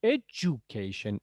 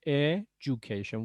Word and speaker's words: education: world thanks so much education education why you in english remember whenever d okay d and u come together okay we always pronounce it as j j okay education like this